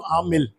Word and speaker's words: Aamil: को बोल देता हूँ नाम क्या है, तो आमिल, just so that they get the pronunciation right.